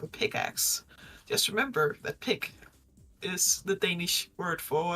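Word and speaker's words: pik: i k but it's it's pronounced the exact same way as pick in pickaxe I see it was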